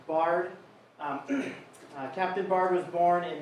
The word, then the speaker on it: Biard: So Captain Biard, so the last name is pronounced Biard.